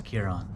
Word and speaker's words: Ciaran: what was your name again my name is kieron kiron yeah can you spell that for me it's c-i-a-r-a-n okay awesome that's